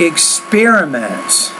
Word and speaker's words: experiments: I would say they're experiments so stress on that second syllable experiments sophisticated hypothesis about